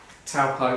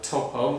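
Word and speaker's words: Taupō: So for this nav flight, I went from Hamilton to Rotorua to Taupo, or Topo, depends on how you pronounce it.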